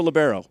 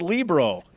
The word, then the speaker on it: libero: libro olivia nicholson olivia how do you pronounce the word libro libero libero i gave you a second shot at it it's libro obviously she's got that wrong